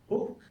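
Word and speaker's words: Huk: Hook. So if I were to spell it in a Chamorro way, it would be H-U-K.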